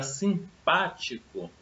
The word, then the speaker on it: simpático: A palavra simpático, deixa eu separar, vai ficar assim. Simpático. A sílaba tônica, esse pá, eu pronunciei com maior força.